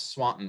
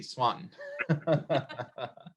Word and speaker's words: Swanton: min or 10 years you pronounce swanton right by eliminating you didn't say the t which is always which is always key swanton so well very